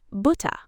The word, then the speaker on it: Butter: So, butter is not bu with a hard R at the end. It's almost ba ba.